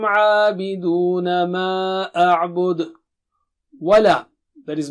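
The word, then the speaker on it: عَابِدُونَ: Abiduna. Ayn should be clear. Abiduna. Mad is there and oo. Make your lips round.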